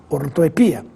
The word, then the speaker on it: ortoepia: falar e escrever pois está correta com ou sem acento mas se quiser seguir o seu professor de português Fale sem acento pois é a forma mais usual ortoepia Projétil ou projetil novamente